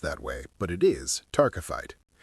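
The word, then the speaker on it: taaffeite: Now, I know it doesn't look like it's pronounced that way, but it is tararkyte.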